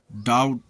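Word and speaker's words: doubt: टी से पहले आया हुआ बी प्रायः साइलेंट होता है, जैसे डेब्ट, कर्ज, डाउट, शक। जी साइलेंट, एन के पहले आया हुआ जी प्रायः साइलेंट होता है, जैसे डिजाइन, रचना, रिजाइन, त्यागपत्र, नेट, पिस्सू, साइन, चिन्ह।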